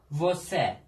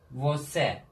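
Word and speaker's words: você: Vose. Ne demek? Sen. Vose. Bakın C ortada olmuş. Ünlüden önce gelmiş. Ne oldu? S oldu bu sefer. Gördünüz mü? S'ye dönüştü.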